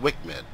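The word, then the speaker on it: WCMD: corrected munition dispenser w CMD often pronounced Wickman like the paveway ii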